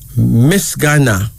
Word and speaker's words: Misgana: Then we have Misgana. Misgana. Misganna.